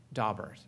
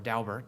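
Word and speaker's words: Daubert: the language itself about dobert and as you all know this topic of expert admissibility is known as dobert or dalbert depending on how you pronounce it people say dalbert hearings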